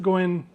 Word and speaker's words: ご縁: And you'll notice that goen is two syllables, go and n.